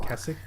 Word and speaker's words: Keswick: Is a real place in Keswick, called, or I think people have told me it's pronounced Keswick, but it's spelled Keswick, called Derwentwater.